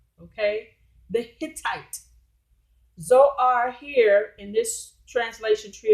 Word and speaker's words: Zoar: Okay, without the H, it's pronounced the same.